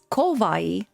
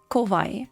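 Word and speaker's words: 怖い: cute but there is another adjective in Japanese which is kovai with o kovai not kavai but kovai and that means frightening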